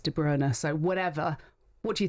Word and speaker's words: De Bruyne: Now, for about nine of those 10 years, we were calling him Kevin De Bruyne. Then we got all the videos as commentators of players pronouncing their own names, and it's De Bruer.